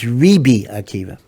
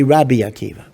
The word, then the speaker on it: Rabbi Akiva: Rabbi Rabbi Akiva or some say although we don't pronounce it this way that the correct vocalization is ribi Akiva okay don't say it